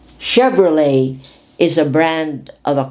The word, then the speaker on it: Chevrolet: is pier chevalier chevrolet because this is french influence silent t chevrolet chicago chicago chaperone chandelier